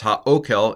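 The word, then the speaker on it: הָאֹכֶל: Here's my pronunciation. Vayomer la Boaz, la'et ha'okel, goshi halom. This is ha'okel.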